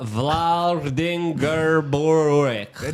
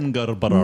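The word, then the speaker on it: Vlaardingerbroek: pronounce At full Eva names. Vlar. It's Eva Vladingerborek. Nice work. Eva Yes, you got it. Vlaardingbroek.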